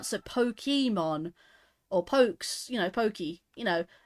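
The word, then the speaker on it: Pokémon: or pokes you know Pokey you know whereas I think the Japanese pronounce it poke because of the ACC because of the E and the accent it's not Pokey it's poke I mean think of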